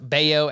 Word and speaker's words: Bello: So it's going to look like Bello, but it's actually pronounced Baio, and he is having just a ridiculous season